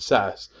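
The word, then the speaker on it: SaaS: years how about this these three acronyms each of them four letters long pronounced I ass pass and sass now respectively they stand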